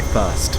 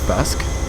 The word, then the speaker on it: Thirsk: I was gonna say Thirst, but I think it's Thirsk. Did I pronounce it Thirsk?